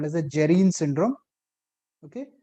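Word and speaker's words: Dejerine: is called as a gerine syndrome. Okay. Jireine is D J E R R I A D is silent there.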